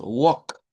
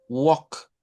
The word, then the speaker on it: walk: Solo decimos walk, walk, nada más, sin pronunciar la L.